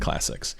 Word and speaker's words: clsx: going to be clsx I pronounce it Classics it's really a package